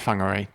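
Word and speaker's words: Whangārei: they produce halfway to long array or do you pronounce it Fung are a densifier it's WH is Fung all right there's that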